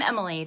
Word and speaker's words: Emily: Hi, I'm Emily. That's how that's pronounced.